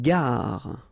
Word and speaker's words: gare: Une gare. Okay, remember when you get these G and A together, the sound is g, ga, ga. Une gare. Final E not pronounced.